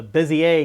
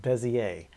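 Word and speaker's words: Bézier: that we have we were explaining about the busier curves that's how we actually pronounced it I I was informed by the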